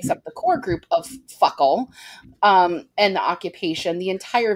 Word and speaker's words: FOCAL: It sounds like Fuckle. Pronounced Fuckle. In their accent.